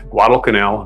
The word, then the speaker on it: Guadalcanal: 1943, the Battle of Guadalcanal ended with an Allied victory over Japan. Sounds like a big canal, but that's just the way it's spelled. Guadalcanal, big island, out in the South Pacific.